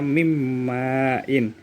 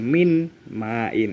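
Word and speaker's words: مِن مَّاءٍ: Contoh yang kedua, mimmain, dibaca mimmain, bukan min main, itu salah.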